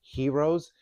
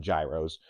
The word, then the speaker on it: gyros: to make our plant-based gyros and tzatziki sauce. And if you're from Pittsburgh, we call them gyros, but we're going to call them gyros today, the proper pronunciation.